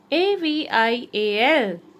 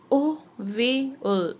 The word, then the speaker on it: Avial: He named it Avial. The pronunciation is Ovial. Ovial.